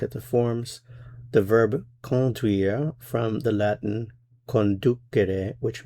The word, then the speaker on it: conduire: In this course, we are going to look at a very important verb, the verb conduire. Conduire. Notice for pronunciation, the first vowel here is nasal. con duire.